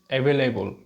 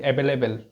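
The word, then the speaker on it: available: কি ওয়ার্ড বলতো দেখি এভেলেবল আমরা অনেকেই মানে মিস প্রোনাউন্স করি এটাকে বলে ফেলি এভেলেবেল শুনেছো কখনো এভেলেবেল নো এটা হচ্ছে ভুল তাহলে আমরা কি বলবো এভেলেবল এভেলেবল এভেলে এবল আর যেটি এভেলেবল না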